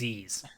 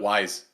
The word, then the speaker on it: Ys: Well, it's because I think a lot of people don't know that's actually how you pronounce it. It's Ys. Yeah, that's true. I call it Ys. Right? Like it's just the letter Y, but there's more of them than just one.